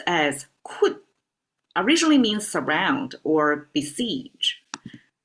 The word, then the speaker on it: 困: And pronounced as 困 originally means surround or besiege.